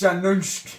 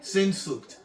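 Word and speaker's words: Sehnsucht: I'm not even gonna be able to pronounce this Let fucking me- name. It's Shanunsk. Sinsucht.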